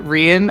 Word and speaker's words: Rian: I've only ever seen his name written, so I always just pronounced it Rian. I didn't know it was a weird alternate spelling of Ryan. Wait, you're blowing my mind. Hold on. Rian.